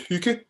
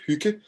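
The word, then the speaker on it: hygge: that we have this famous Danish word called hookah you're all welcome to pronounce it hookah it's it means hookah very good hook it means kind of having a cozy time together.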